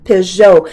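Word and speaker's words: Peugeot: spelt correctly and it is a joke it's pronounced piss Joe I am NOT a fan of those cars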